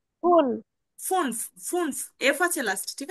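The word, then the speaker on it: fünf: ফুনফ, ফুনফ, এফ আছে last, ঠিক আছে? ফুনফ। জি। যে উচ্চারণটা করেন তো আপু। ফুল। ফুনফ, লাস্টের এফটা উচ্চারণ করতে হবে আমাদের, ঠিক আছে? ফুনফ, ফুনফ।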